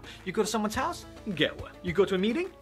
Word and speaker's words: gahwa: one is arabic coffee or qahwa or gahwa that's how we say it so say it the